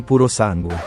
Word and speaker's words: Purosangue: Wait, how the hell do I pronounce this? Ferrari Purosangue.